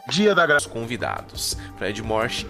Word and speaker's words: Morsch: Aliás, Fred, eu estou falando aqui, estou caprichando para falar as últimas sílabas do teu nome, Fred Morsch, porque a Lala me cobra pra cacete.